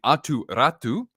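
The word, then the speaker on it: Aatu Räty: Getting Atu Ratu, a former first rounder. I have to say it like I'm Finnish because I have Finnish friends.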